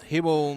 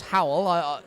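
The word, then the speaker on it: Hywel: There's a question from Hibble. I don't know if I pronounce it right. Well, it's Howell. Howell. A lovely Welsh name, that.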